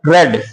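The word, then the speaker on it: read: जो second form है pronunciation इसका पढ़ा जाएगा वो पढ़ा जाएगा रेड जैसे इस तरीके से आप इसको पढ़ेंगे रेड और इसको भी हम यही कर देंगे रेड लेकिन स्पेलिंग तीनों जैसे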